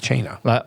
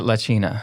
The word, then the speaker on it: La Cena: La Cena, which means, or is it Cena? We pronounce it La Cena.